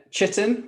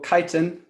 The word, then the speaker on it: chitin: that um piper yeah chitin or chitin there there's like two camps of people who pronounce it in different ways um i kind of